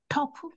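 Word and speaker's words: tough: 했으니까 타오라고 잘 읽으셨어요 그런데 여기서 오유 발음은 예외죠 예외 아 아로 소리 나지 않고 이때는 어라고 소리가나요 아 그래서 얘는 어떻게 읽 터프 어 터프해 터프 그래서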